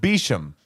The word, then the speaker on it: Beauchamp: Beauchamp? Beecham. Beauchamp? No, his name is pronounced Beecham.